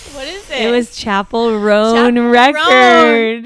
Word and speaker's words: Chappell: maybe she does maybe she loves Chapel R Chapel that's how you say it mm Chappelle chapel